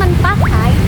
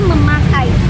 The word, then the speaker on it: memakai: Contohnya, bukan mempakai tetapi memakai. Huruf N berubah menjadi M karena dipengaruhi bunyi P.